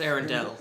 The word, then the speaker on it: Arendelle: It's Arendelle. That's Arendelle. Yeah. Oh, what did you say? Arendelle. It's spelled Oh, okay.